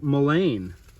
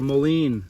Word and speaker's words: mullein: But this is the wonderful, magical mullein, or mullein, depending upon the people you talk to. I've heard it pronounced both ways.